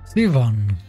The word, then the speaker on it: Siobhan: Siobhan is pronounced Sivan, not Siobhan. Sivan.